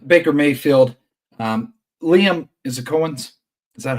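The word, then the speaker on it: Coen: Liam, is it Cohen's? Is that how you pronounce it?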